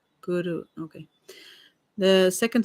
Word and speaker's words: guru: The first syllable of the word guru is pronounced as in the word good. Guru. Okay. The second syllable ru has a sound that rhymes with the word true. Guru.